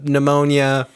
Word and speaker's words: pneumonia: the whole Colonel issue the pneumonia with the silent PE the uh just every